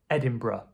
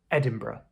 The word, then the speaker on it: Edinburgh: But commonly in speech, people will just say Edinburgh, Edinburgh. So "ed-in-bra". Edinburgh.